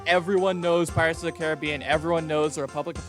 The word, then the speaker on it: Caribbean: continent up is the Caribbean if that sounded unnatural it's because I've been pronouncing it Caribbean my entire life and this was a